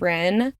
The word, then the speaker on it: Rin: It's even weirder because her name is Rin, 1 syllable, 4 letters.